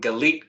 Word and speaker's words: Galit: Well, my name's Galit. It's like delete, but with a G, in case anybody needs some tips on how to say it.